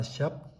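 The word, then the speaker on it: ཞབས: This is not one of the 5 prefixes. Ga, da, ba, ma. You have to pronounce this. This is the suffix. This is the post suffix. Sha, ba, sa, shap, feet.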